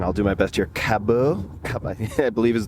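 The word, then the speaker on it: Cabeau: This, and I'll do my best here, Caboo Cab I I believe is the pronunciation, c a b e a u, and it has evolution pillow written on the side.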